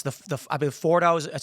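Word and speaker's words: Fordow: So the question I have then is we've we've heard that Iran has it's the the I believe Fordo is how it's pronounced this deep underground nuclear enrichment facility.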